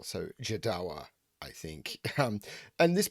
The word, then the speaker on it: Jodawo: is supposed to be jedowa um i believe um i've been told it's like joshua but with a dart in the middle so jadawa i think um and